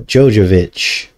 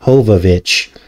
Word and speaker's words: Jovovich: Now, the film stars Mila Jovovich, or I think it's pronounced Hovovich, and what I found while decoding this box office failure was very disturbing.